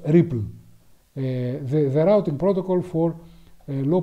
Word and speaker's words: RPL: So this is the so-called RPL protocol, which however is pronounced Ripple, the routing protocol for low power and lossy networks.